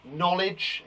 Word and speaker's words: knowledge: Knowledge, again, has a silent K at the front, a silent K.